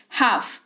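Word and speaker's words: half: एच ए एल एफ अ यहां पर है इसकी स्पेलिंग। लेकिन एल जो है वो साइलेंट रहता है ड्यू टू साइलेंट लेटर्स का जो रूल होता है उसके हिसाब से कि एफ है करके इसी वजह से साइलेंट हो जाता है।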